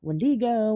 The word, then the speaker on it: Wendigo: about the and and this is how I'm going to pronounce it. Uh the windo. Okay. Uh you know, Pat, that's up to you what you're doing, but I've heard I I've heard uh Wendigo, Wendgo.